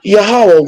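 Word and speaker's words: Yahweh: being yahwah yeah know some say AA some say um yah some say all kinds of other pronunciation but we go by yahwah YH wh I am that I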